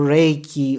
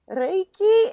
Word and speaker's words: Reiki: let's go so um Reiki in particular so the word itself mean is two syllables Reay and key Ray and key Ray is universal life